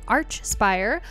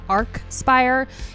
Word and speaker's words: Archspire: to be listening to Arch Spire for the very first time hopefully I'm pronouncing that right I think it's Arch spire and not Arc Spire if I'm wrong correct